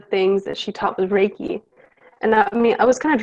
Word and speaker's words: Reiki: So I know you're also a Reiki Master. Am I pronouncing that right? Reiki.